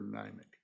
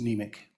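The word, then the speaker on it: Niemiec: The I is silent. Got it. Okay. That's where we're at. Now, Representative Nemec, so just tell us exactly, like, say in my hometown, there's a vodka distillery.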